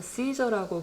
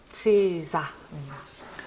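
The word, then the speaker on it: Cäsar: 치이사는 놀랍게도 우리나라에서 시저라고 부르는 그 인물입니다. 시저가 로마의 원로원에서 연설하는 장면인데요. 문화권에 따라 정말 다르게 부르는 것 같아요. 우리는 그냥 시저, 그리고 시저 그러기도 하고 케사르 그러기도 하고 하죠.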